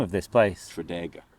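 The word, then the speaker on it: Tredegar: Tradega. Tradega. Yeah, Tradega Square. See, I was going Treadgar. Trago. I'm saying it like I actually know. I think it's Tradega.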